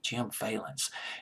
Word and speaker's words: Vallance: songwriter on this album Jim Valens I'm to pronounce it as valence violence our valence fee a ll ance Jim valence Jim valence he produced this album he was